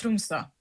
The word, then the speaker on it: Tromsø: Arctica Blizzard in Trump. Do I pronounce it right? It was an okay attempt but it's pronounced trumsa.